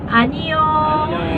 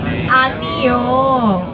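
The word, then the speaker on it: 아니요: say no in Korean once again ano oh okay can you remember Ne ano.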